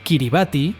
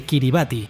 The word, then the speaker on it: Kiribati: Kiribati es la pronunciación local de la palabra Gilbert, en referencia al capitán